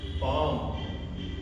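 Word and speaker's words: palm: इसी तरह से काम पाम देखिए एल के बाद में एम आ रहा है। काम मतलब शांत रहना। पाम मतलब हथेली तो इसमें भी हमारा एल साइलेंट रहेगा।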